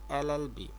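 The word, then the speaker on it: LLB: 2 number, he is dash এলএলবি। তো এখানে যে ক্যাপিটাল এলটা আছে সেটা উচ্চারণ আমাদের বাউল অনুসারে হয়েছে, যার কারণে এখানে আমাদের এন বসেছে।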